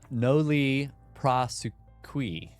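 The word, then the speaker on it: nolle prosequi: I put the pronunciation in for you. Yes, it's uh no li prosequi.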